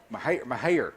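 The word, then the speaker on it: Mexia: Mahia. There we go. Say it again. Mahia, Texas. Mahia High School. That's how you pronounce it correctly.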